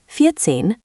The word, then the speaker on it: vierzehn: Vierzehn versus vierzig.